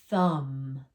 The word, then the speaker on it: thumb: Thumb. We don't even make the B sound, right?